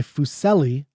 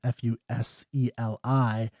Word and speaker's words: Fuseli: This is by Fuseli, I believe it's how you pronounce his name, Fuseli, in 1781, called The Night Mare.